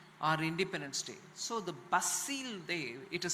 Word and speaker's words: Bastille: our Republic Day our independence day so the basil day it is spelled a b-a-s-t-i-l-e basil so um pm has been invited to participate